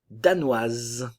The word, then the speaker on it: danoise: se prononce pas danois danoise le E ne se prononce pas mais le S se prononce ok la S fino